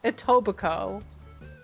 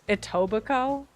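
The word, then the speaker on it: Etobicoke: So that's how you pronounce it. Ittoico. Did anybody guess Ittobico?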